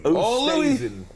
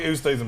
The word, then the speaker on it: Oosthuizen: Oosthuizen.